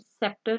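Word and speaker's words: sceptre: सो सीन, सेंटेड, सेप्टर and scissors में आई ई वाई की मौजूदगी जब होती है एस सी अल्फाबेट के साथ तो सी वुड बी silent.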